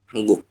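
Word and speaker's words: 한국: kan Han terus guk Kenapa kok kita membacanya hangguk vokal engnya naik vokal eng-nya naik Oke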